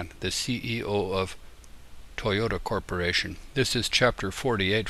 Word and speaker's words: Toyota: as a t but in america we slur our t into a d and pronounce toyota as toyota anyway so insofar as